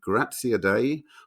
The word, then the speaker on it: Graziadei: Uh so without further ado, please welcome Billy Gratzia Day of Biohazard to the show.